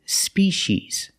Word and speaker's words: species: species or species seas in America we say species using the sh sound the sea makes the sh sound like an fish and wish Spees both vowels are